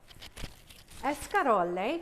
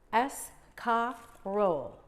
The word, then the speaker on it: escarole: Escarole, which is pronounced escarole. The Italians like to roll that R and they say escarole.